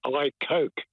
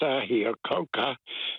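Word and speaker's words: Ahikouka: parents farmed in a in an area called I Coke just north of greytown and it's actually pronounced I here coka and it means fire in the Cabbage tree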